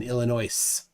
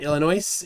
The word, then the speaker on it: Illinois: the hard way after getting tired of people people pronouncing the s in Illinois yep thank you for that Illinois is a is a